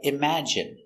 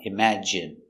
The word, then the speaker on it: imagine: you have words like imagine it has these short I sound imagine we're focusing on these